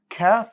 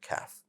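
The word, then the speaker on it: كاف: off is back here calf is just slightly before it right a little bit before it and because it's slightly before it we can lower the back of our tongue to allow that distinct sound for the letter calf recognizing the letter calf well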